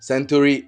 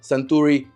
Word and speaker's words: Suntory: Centuri Ao is actually pronounced Sanuri Ao and it has a meaning.